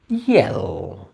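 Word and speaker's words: yell: Similarly আমরা ওয়াই দিয়ে একটা ভাবতে পারি, ওয়ার্ডটা হলো ইয়েল। ইয়েল, ইয়েল মানে কি? চিৎকার করা। ইয়েল মানে হলো চিৎকার করা। ইয়েল, এটা উচ্চারণ কিন্তু ওয়াই, কিন্তু উচ্চারণটা দেখো অ্যাকচুয়ালি শুরু হচ্ছে ই থেকে।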